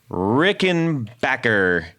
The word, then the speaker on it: Rickenbacker: got a very special 101 because this is rickenbacker you said it right 101.